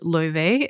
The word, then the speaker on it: Laufey: Her name is Ly. It's spelled L A U F E Y.